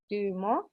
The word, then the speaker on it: Dumo: This symbol is pronounced Duma, also known as Tibetan master symbol. It represents the swirling, fire and heat of Kundalini. And Dumo or Dumo, fire is the heat which ascends